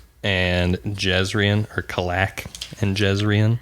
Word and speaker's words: Kalak: So what we see in the prelude is these two men, Kalek and Jezrien, or Kalak and Jezrien. How do they pronounce it in the audiobook? They say, so they say Kalek for the most part, but also the names